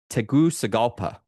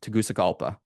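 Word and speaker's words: Tegucigalpa: Unlike um unlike Teusalpa, which is where he's from, Tagusalpa. And he gave me the pronunciation. So, that is correct.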